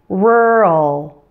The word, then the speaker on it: rural: And rural is a two-syllable word. Since it's an adjective, right? It's describing something. You can predict that the stress will probably be on the first part, since two-syllable adjectives usually stress the first part. And yes, it does follow that rule. So say it like this. Rural. The first syllable is much louder and longer than the second.